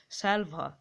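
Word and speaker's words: salver: from the house with স্যালভা ঠিক আছে স্যালভার আর এর উচ্চারণ তো হয় না এক্ষেত্রে হুইচ ক্যারিস হ্যাঙ্গিং ডাউন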